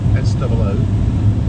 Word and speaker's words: Soo: And I deliberately say it like that, and we kind of all do here, because it's spelt Sue, S-O-O. You actually pronounce it So. So everyone tends to say it very fiercely.